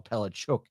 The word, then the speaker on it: Palaszczuk: It's I think it's a Polish name because it's spelt the same way as Palaszczuk or Palachuk is pronounced.